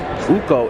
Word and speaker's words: Uko: Uko is the proper pronunciation, correct? Is it Uku? Uku. There you go. See, I'm gonna get it. I want to say Uku, but for everybody watching, we're gonna keep it Uko.